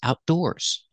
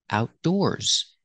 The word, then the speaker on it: outdoors: to spend time outside put the stress on the second syllable outdoors and you have an S at the end making a z sound like zebra Outdoors they like to spend